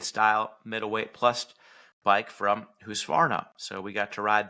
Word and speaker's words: Husqvarna: Husqvarna fans will be pumped that you pronounced Husqvarna correctly.